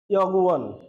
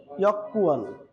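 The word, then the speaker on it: 여권: ইয়গুয়ান, ইয়কুয়ান, এটি ইয়গুয়ান রয়েছে কিন্তু এর উচ্চারণটা কোরিয়ানরা কিভাবে করে? ইয়কুয়ান, ইয়কুয়ান।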